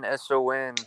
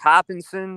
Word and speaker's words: Hoppinson: It's pronounced Hopkinson. It's Hoppinson. Hopkinson. All one word. Hoppins. Okay. Hopkinson. Hoppington. Okay. Hoppington. Okay, I gotcha. Right. No. Hopkinson. Hoppinson. Like Williamson. Oh, S-O-N. Son.